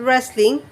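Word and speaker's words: wrestling: hockey volleyball table tennis রেসলিং এখানে উচ্চারণটা একটু খেয়াল করো ডব্লিউ এর উচ্চারণটা কিন্তু হচ্ছে না হ্যাঁ এখানে হবে রেসলিং তারপর হচ্ছে মিউজিক্যাল চেয়ার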